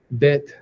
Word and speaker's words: Beth: Now, it's actually pronounced bet.